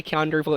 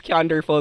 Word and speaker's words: Keanderful: So when we say Keanderful, it's like wonderful, but how you spell it is Kean, then DR. Let me repeat that. It's Keanderful.